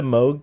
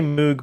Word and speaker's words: Moog: Some people say Moog, but I'm pretty sure it's pronounced Moog.